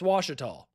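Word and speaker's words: Ouachita: And dude, like it's just the river right next to that looks like Alchita, pronounced Washita.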